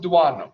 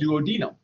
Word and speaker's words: duodenum: I pronounce it duodenum, but apparently in Canada and in England, they call it duodenum.